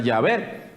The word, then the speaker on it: Yahvé: siempre pronunciamos, nosotros nunca nos hemos acostumbrado a pronunciar Yahvé.